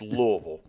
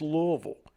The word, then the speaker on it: Louisville: louisville kentucky and yes that is the proper pronunciation it's louisville if you pronounce it louisville or louisville you're pronouncing it wrong it's louisville so you got to pronounce it correctly but